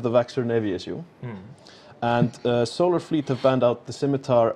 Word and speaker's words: Solar Fleet: uh choke point versus solar Fleet and I respect the team so I'm pronouncing it correctly a lot of people think it's a silent L but I'm not I'm not in for that so choke point have